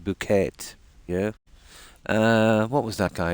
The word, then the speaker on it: Bucket: You remember something bucket, and the lady would always say it's pronounced bouquet.